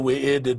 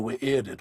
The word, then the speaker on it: Wy'rded: So when you see two U's together, for example, like in Thu'ul, it is not Thu'ul, it is Thu'ul, is how it is pronounced, right? So you give a little pause there. So in this case, it is not the Wy'rded world, it is the Wy'rded world.